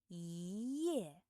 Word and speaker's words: 一夜: If the character after yi is the fourth tone, then the character yi should be pronounced as the second tone. The second tone. For example, 一夜, 一夜 means 1 night.